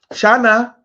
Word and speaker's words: Shin: So Shana or Shan, which is the real pronunciation, you can be sharp, you can press things together, you can bring two things together.